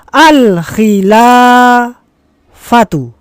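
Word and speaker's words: الخلافة: Maka ini dibaca alkhila fatu. Iya, tepat sekali. Ada alif lam di awalnya maka di ee akhirnya dibaca domah alkhilafatu.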